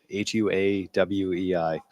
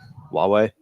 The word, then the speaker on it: Huawei: has revoked licenses for sales of chips to, I always say it wrong, Huawei. Huawei. It's a Oh yeah, Huawei.